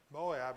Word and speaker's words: Moab: Moab was mo. So it's not pronounced the way that we do. When Naomi heard that Moab heard in Moab that